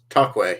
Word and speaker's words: toque: Tokwe. Tokwe, yes.